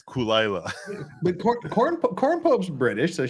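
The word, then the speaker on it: Caol Ila: Kulila. Oh, Kulila. Kulila. Lagavulin. Oh, I know how to pronounce that.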